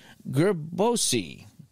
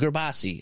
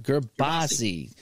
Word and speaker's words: Gerbasi: Gerbasi. I'm sorry, Gerbasi. Gerbasi. Think of a kielbasa.